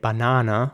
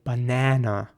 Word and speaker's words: banana: Now, again, there are two ways to pronounce this word. In British English, people say banana with an R sound in the middle. In American English, people would say banana with an A sound in the middle. Again, either one is fine.